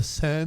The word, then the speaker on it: Seine: I say we start out with the Seine. Is that how you say it? The Seine?